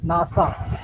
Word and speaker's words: NASA: are not spelled out it is pronounced as a whole word nasa so you need to